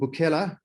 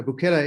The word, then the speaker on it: Bukela: uh so so number one how do i pronounce it you're not far off um it's called it's the company is called buchela africa safari so buchela is a kosa term um which means to